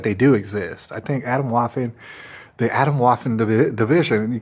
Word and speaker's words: Atomwaffen: your life it's called Adam laughing right it's called Adam laughing and it's spelled like a t om like Adam bottom and Waffen like lawful but with an N Adam laughing all right